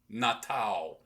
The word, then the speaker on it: Natal: Natal, like natal birth. Oh, nice. Feliz Natal. And they don't, Natal. they pronounce the L like a W.